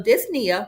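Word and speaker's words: dyspnea: So, dys means difficulty and then the p is silent. Nia refers to breathing. So, disia refers to shortness of breath.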